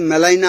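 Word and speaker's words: Gmelina: you retained this is Melina arboria named after a German bottom but not only botanist he was a naturalist basically Malin g is silent so in his honor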